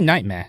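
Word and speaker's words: Knightmare: was or became obscure I'd say nightmare sports with a silent K it was one of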